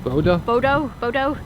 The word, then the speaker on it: Bodø: Bodø.